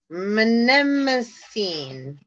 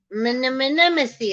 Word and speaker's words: Mnemosyne: Mnemosyne. Mnemosyne is like the Nemo when he's trying to say an anemone.